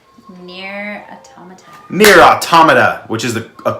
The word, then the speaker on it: Nier Automata: Nier Automata, which is a correct pronunciation of that word.